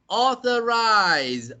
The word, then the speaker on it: authorized: r-i-s-e so authorize organize no even if the spelling is s-e the pronunciation is still authorized realize so this pronunciation is with the zed sound if you don't believe